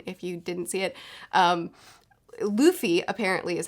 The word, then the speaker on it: Luffy: Luffy apparently is how you say his name.